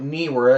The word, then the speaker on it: Neewer: Yeah, Neewer does make, I call it Neewer. It looks like that's how you pronounce it.